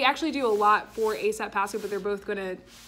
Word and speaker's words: ASAP Pasco: Everyone, I am here with Chrissy and Monica from ASAP Pasco.